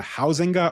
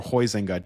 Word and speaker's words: Huizinga: It's by this Dutch author named Johan Huizinga or Huizinga. Different Dutch people tell me it's pronounced differently, but it's Huizinga.